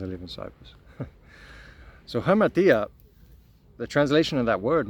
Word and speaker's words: hamartia: But the original word sin comes from the Greek word hamartia. I'm pretty sure that's how it's pronounced. I should know that, seeing as I live in Cyprus. So hamartia, the translation of that